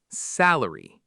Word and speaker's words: salary: Three syllables, stress on the first, salary.